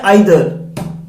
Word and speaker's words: either: ये जो वर्ड है आइदर, इसको ईदर भी प्रोनाउंशिएट किया जा सकता है, डेट इज ऑल्सो राइट।